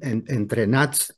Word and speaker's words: EntreNuts: poco de todo s que la pronunciación es entrenat pero el 90 de los argentinos le decimos ent o entrenarse dependiendo viste la pronunciación bueno y